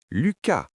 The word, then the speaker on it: Lucas: Lucas, ici le S se prononce, c'est un nom propre.